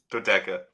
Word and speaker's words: dodeca: on uh dadoka dodoca how do you pronounce that dodeca dodeca that's right i'm looking at it and i can't quite dodeca yeah that's right so and we talked